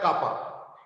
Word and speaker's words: kappa: is called as kappa, इसको pronounce किया जाता है कापा, इट्स नॉट एग्जैक्टली के तो ऐसे होता है, ये है कापा, यानी इसमें कुत्ते के